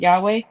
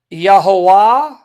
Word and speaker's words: Yahweh: So I know in the other passage that you have shown it talked about Yahweh.